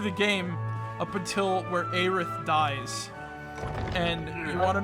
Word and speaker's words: Aerith: Aerith. I think it's you're putting a lot of emphasis on the A. I think it's just Aerith. It's Aerith. I don't fucking care.